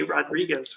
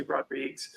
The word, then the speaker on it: Rodrigues: Everybody else that I've been watching interviews with you lately say Rodriguez, which is wrong. So I say Rodrigues.